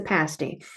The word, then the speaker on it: pasty: called the Cornish pasty note the short a pronunciation easily enough bad mistake Americans can make is making that a long o don't do that it's a pasty what is it so